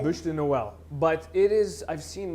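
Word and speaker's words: Bûche de Noël: Buche de Noel. Buche de Noel.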